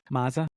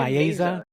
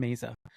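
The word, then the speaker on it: Mayza: Mazza. Oh, Tim Meza. I always say his name wrong. Tim Meza.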